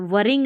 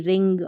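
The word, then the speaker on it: wring: वरिंग नहीं रिंग, और इसको वरिंकल नहीं रिंकल, इसको भी देखिए रिस्ट रॉन्ग, W नहीं पढ़ना है।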